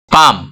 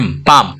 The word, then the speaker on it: palm: पाम, PALM, पाम, एल और एम दोनों consonant है, यहाँ पे एल साइलेंट हो गया।